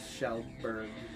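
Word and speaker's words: Kjellberg: Yeah, that's his name is, his last name is Shellberg.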